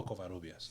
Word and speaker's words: Covarrubias: How do you say that last name? Covarrubias? Oh, Covarrubias. In Spanish, dude.